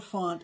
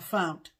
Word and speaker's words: fount: Not a font, a fount.